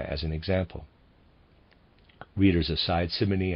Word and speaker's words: Simony: an example readers aside simony I'm pronouncing it that way is s-i-m-o-n-y and it reads aside